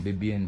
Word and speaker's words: Vivienne: Bebien pala ang pronunciation nito.